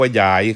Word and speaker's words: ยาย: น นก อื เอ้า นี่ คือ ความ หมาย ของ คำ ว่า หยาย ออก เสียง ว่า หยาย ครับ สรุป ความ หมาย